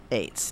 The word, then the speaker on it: Eitz: Haya means life and we spell it e-i-t-z eights now sometimes you'll see it spelled by other congregations etz um to me that would be at and I'm trying to